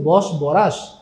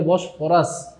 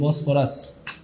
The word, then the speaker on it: বসফরাস: অনেকে বলছে বস বরাস। স্যার বস বরাস না কিন্তু এটা বসফরাস ফ হবে ফ উচ্চারণটা হবে ফ এইযে দেখেন এইযে বসফরাস ঠিক আছে পরেরটাতে চলে